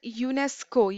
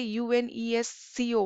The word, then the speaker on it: UNESCO: you know like we we do not say u n e s Co we say it as UNESCO but there are certain